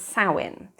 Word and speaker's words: Samhain: It's spelled Sam-hain but you say it's Sow-in, and it's basically- it's